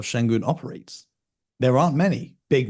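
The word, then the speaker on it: Şengün: pronounce his name again I want to make pronounce shenon shenon yes okay I just want to make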